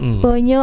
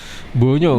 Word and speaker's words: Bonyo: Bonyo gampang Bonyo kok. underscore 01. Kita pelafalannya, pronounce-nya bonyo ya. Bonyo. Itu tulisannya O bukan U ya, bonyo gitu bonyo. ya.